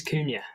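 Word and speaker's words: Cunha: How to say it is Kuna.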